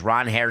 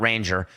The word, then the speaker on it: Ranger: We're back at it because Ron Hair Suarez, that's right, he changed his name. It's not Ranger. No. He made sure that we pronounce it correctly going forward.